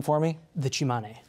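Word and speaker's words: Tsimane: All right, this is, pronounce the name for me? The Chimane. Chimane.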